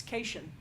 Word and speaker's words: Caitian: Actually, I think it was either Discovery Season 2 or it was Picard that somebody pronounces his race, and it's Caitian, like Haitian.